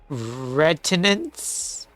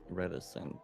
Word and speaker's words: reticence: He spent most of the time listening but not out of retinence. Is that how you pronounce that? Retinance. Uh reticence.